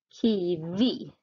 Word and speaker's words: kiwi: Exempel kiwi. Det är betoning på slutet.